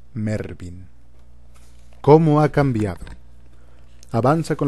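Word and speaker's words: Mervyn: recordar a vuestro oído la palabra que se pronuncia mervin cómo ha cambiado avanza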